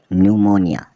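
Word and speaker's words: pneumonia: ई यू एम ओ एन आई ए मतलब न्यूमोनिया न्यूमोनिया का अर्थ होता है जवर पी एस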